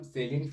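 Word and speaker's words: salient: हम आते है सम सेलिट फीचर्स ऑफ सीएसपी फाइल्स के सेलिट का मतलब इसको कुछ लोग साइलेंट पढ़ लेंगे लेकिन साइलेंट नहीं सलिंट है इसका मतलब कि कुछ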